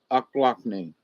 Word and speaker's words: Ochlockonee: in Florida guess where the ochlockonee bay o'clockney if you know how to say it correctly but so if they've